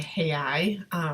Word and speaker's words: Real: can type in Rio which is actually hey I pronounced in Portuguese the Brazilian hey I is going to be